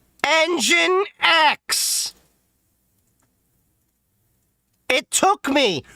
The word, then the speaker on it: nginx: and put in the IP of NGINX RIGHT ENGINE X.